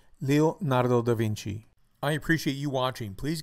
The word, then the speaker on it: Leonardo da Vinci: Pronunciation of this quintessential Renaissance man is Leonardo da Vinci, Leonardo da Vinci, Leonardo da Vinci.